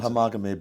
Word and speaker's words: homogamy: And then, to me, the most striking factor that you name, homogamy, or is it homogeny? I'm not even sure how to pronounce it. I call it homogamy, but...